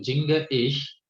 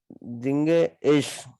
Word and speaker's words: singe ich: Jinge ich सही pronunciation कीजिए. Jinge ich Singe ich gern.